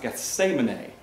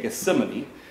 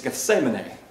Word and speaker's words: Gethsemane: So that's what Gethsemane, in fact, it's actually pronounced Gethsemane. Never heard of it that way. We say Gethsemane, but it's Gethsemane.